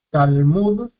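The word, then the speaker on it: תלמוד: Tenemos luego Talmud, Talmud, primer sílaba cerrada por la lames, tenemos consonante, vocal corta, una pata, una vocal corta, consonante, lleva es silencioso porque está precedido de una vocal corta.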